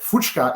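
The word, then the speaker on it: Fučka: But Fuchka is spelled Fucka.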